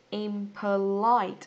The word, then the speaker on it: impolite: Trọng âm rơi vào âm tiết thứ mấy các bạn ơi? Impolite. Ok, nó sẽ rơi vào âm tiết thứ 3, âm tiết cuối nhá.